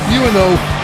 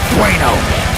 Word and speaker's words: Bueno: Did you just say Buono? That's how it's spelled here in front of me on the teleprompter. It's Bueno.